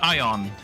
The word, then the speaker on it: iron: Interesting how people outside the UK say iron, where the R is silent. Where here the R is silent. So you all say ion. I'm going to get some ion.